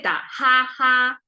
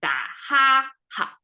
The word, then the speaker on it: 打哈哈: We don't say da, ha, ha. It sounds flat and bookish. We say da, ha, ha. So ha is short and light at the same time.